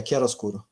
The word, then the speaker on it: chiaroscuro: me, but this is a wonderful example of chiaroscuro. Is it the right pronunciation? Yeah, chiaroscuro.